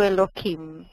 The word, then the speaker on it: Elohim: lê Eloim é isso quando eu leio o nome de Deus eu leio Eloim Uhum mas por que